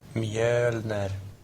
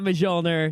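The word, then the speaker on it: Mjölnir: Mjölner. What that was Mjölner. a correct pronunciation of Mjölner. Mjolnir. Mjölner. no, not Mjolnir.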